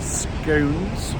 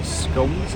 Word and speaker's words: scones: So, if you want tea and scones or scums, depending on your pronunciation.